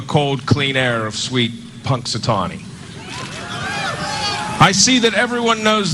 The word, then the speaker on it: Punxsutawney: Dave that's what funk I can't even say Punxsutawney Phil right is that how you say it